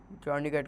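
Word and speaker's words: tourniquet: Rap with a टॉर्निकेट, टॉर्निकेट को हम बोलते हैं, मतलब प्रोनाउंस कैसे कर सकते हैं, टर्निके, टर्निके, ठीक है।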